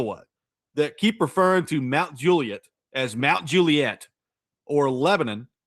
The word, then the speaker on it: Mount Juliet: Mount Juliet, the well-known suburb of Nashville, Tennessee, is phonetically pronounced Mount Juliet, stressing the first syllable. The Juliet is clipped short rather than drawn out like the Shakespearean Juliet, which is a dead giveaway that someone is an out-of-towner.